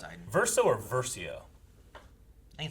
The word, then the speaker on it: Versio: I think it's pronounced Iden. Verso or Versio?